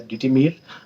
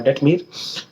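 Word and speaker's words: Detemir: It can be pronunciated as Detimir or Detmir.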